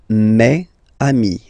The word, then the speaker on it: mes amis: Okay, it's the plural form, so it's mes amis. Okay, and then let's be purist and make this beautiful liaison between these two words.